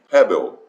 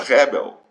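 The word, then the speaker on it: Hebel: gente vê aqui queridos essa palavra que pode ser pronunciada com H aspirado Tá bom mas carregado quase que um R Rebel tá bom essa Rebel é uma palavra que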